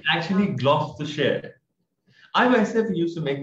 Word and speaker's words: Gloucestershire: So it's actually when we break this the whole word, it's gloss, G-L-O-S-S, from glossy, and then T-U-2.